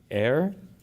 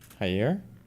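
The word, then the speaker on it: Jair: Base Brazil 50% in part due to trial of ally Ayer Ayer Bolanero I don't pronounce his name. How do you pronounce his first name? Hier.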